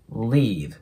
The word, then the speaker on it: leave: のコはまず L の部分 L の音っていうのは日本語のラリルレロよりも強く発音するので刃の裏側ぐらいに下を押し当てて Le leave こんな感じね下先を強く弾くイメージで発音しますでその後の